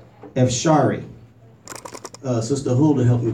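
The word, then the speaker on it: אפשרי: And I found the word possible in the Hebrew is, make sure I'm pronouncing it right, Epsharee.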